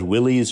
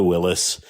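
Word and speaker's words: Willys: Ford Headquarters in Dearborn curator Matt Anderson says you can call it Willies or Willis everybody's welcome at the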